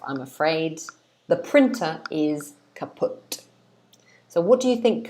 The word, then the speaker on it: kaput: So this word is pronounced kaput. kaput. This is how we say it in English.